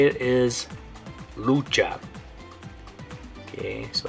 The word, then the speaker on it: lucha: and the way you're gonna say it is Lucha okay so like I said in English it'd be like wrestle or struggle or fight in Spanish it's gonna be Lucha if you've ever seen the movie Nacho Libre